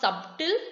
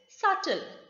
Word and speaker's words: subtle: have the word subtle it is not subtle it is subtle what is the meaning